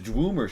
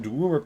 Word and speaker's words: Dwemer: I'm just wondering where you got the ooh sound out of DWE.